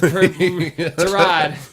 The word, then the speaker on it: Tyrod: Dude, Tyrod. That's how he says his. Tyrod. Yeah, you've all been saying it wrong this whole time.